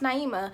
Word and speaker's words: Naima: told you like oh it's pronounced Naima like I feel like you should get it like my name is Naima that it is what